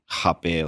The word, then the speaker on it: rapé: recognize a word called rapé or hapé. Some people say it with the hapé like the Brazilian pronunciation because they don't want it to sound like rapey.